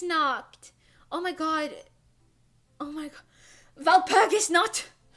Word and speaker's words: Nacht: How did you pronounce Nacht?